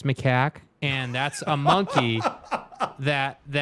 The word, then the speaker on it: macaque: Aaron Wilson says macaque. Okay. First of all, dude. Okay. That's not how you pronounce it. It's macaque, and that's a monkey that Elon Musk has been killing lately, okay?